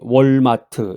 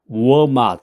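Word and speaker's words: Walmart: 한국식으로 이제 정확한 발음이 월마트 이건데 미국에서 그렇게 하면 못 알아들어요.이 말을. 워맛. 워맛이라 그래야 되는데 워맛이라는 건 워맛. 무슨 맛? 우어맛 우어라고 하니까 W 발음이 W 발음이이 입술을 이제 이렇게 모았다가 발음해야 되는데 한국식으로 월맛 이러면은 이제 못 알아듣는 거죠.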